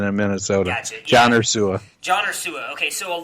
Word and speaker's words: Ursua: Ursua. Okay, I was going to say Ursua. Yeah, it's Olabisi Johnson in Minnesota. Gotcha. Yeah. John Ursua.